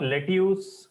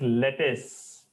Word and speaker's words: lettuce: your Kobe GOI yes it is not luse it is lettuce most common mistake most common sub letu